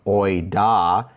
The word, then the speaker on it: οἶδα: And that's distinguished from oida, which is I'm knowing.